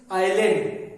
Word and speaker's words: island: यहां एस को नहीं पढ़ा जाता है, एस इज साइलेंट हियर। तो क्या what is you have to read this? आइलैंड, आइलैंड, एस is silent, S को साइलेंट है, एस नहीं पढ़ना।